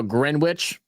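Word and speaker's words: Greenwich: Well, look, if y'all going to spell it green witch, then have it pronounced that. If you want it to be pronounced grin witch, then spell it grin witch.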